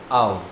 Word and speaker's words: of: OF is always pronounced as au. There is no F sound, there is W.